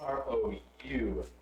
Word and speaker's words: roux: said you're gonna make a roux to eat.